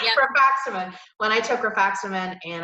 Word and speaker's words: Rifaximin: Rifaximin, yep. Rifaximin.